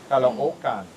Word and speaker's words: Caloocan: Caloocan. Caloocan. Thank you. Caloocan. I remember if there's two, like look, you're supposed to pronounce it two separate words almost, if two of the same vowel are together.